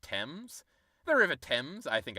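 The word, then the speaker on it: Thames: the out of here it's pronounced temps the river temps I think I've heard that before but tame sounds way cooler of course the Brits don't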